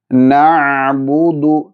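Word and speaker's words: نعبد: ശേഷം നഅബുദു നഅബുദു നഅബുദു. ഇവിടെ ഐൻ ശ്രദ്ധയോടുകൂടി ഉച്ചരിക്കുക. പലരും ഉച്ചരിച്ച് കാണാറുണ്ട് നഅബുദു നഅബുദു. അങ്ങനെ ഉച്ചരിക്കാൻ പാടില്ല, അത് തെറ്റാണ്.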